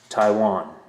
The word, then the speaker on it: Taiwan: my five-year-old who's learning to read try to pronounce Taiwan had to tell them the a is silent